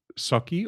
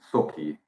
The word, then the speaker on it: Sokkie: Is it Soki or Suki? Yeah, somewhere in between. Socky.